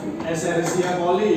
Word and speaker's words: Escherichia coli: Oke, itu bakterinya namanya Escherichia coli ya dibacanya ya.